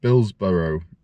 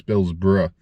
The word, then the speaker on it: Billsborrow: Michaels and Billsborrow car boot. Now I always thought it was Billsborough. Maybe you say Billsborough, but it's spelled Billsborrow.